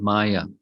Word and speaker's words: Maya: Here's an image, nice artistic drawing of the feature of Maya. Many of you know what Maya means. It's two syllables, ma, ya, not this.